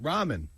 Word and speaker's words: ramen: I don't know how they're pronounced. Ramen.